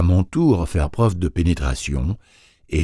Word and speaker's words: Tur: Tur, prononcé tour, tour et sourd, même mot, n'est-ce pas?